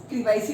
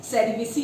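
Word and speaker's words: cerevisiae: तो सैक्रोमाइसिस क्रीवाइसी भी बोलते हैं, कुछ सेरिवेसी भी बोलते हैं, वैसे करेक्ट प्रोनाउंसिएशन जो है सेरिवेसी है, ठीक है ना।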